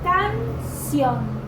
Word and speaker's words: canción: Por ejemplo, canción, la sílaba tónica es sion.